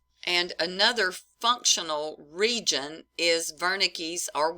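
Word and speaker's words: Wernicke: another functional region is veres or worik area I prefer verik because I think it's supposed to be pronounced with a German accent you tell me if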